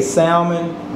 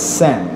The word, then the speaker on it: salmon: i'm gonna tell you many of you say salmon guys it's not salmon it's not an english word it's salmon okay so today we're gonna make salmon croquettes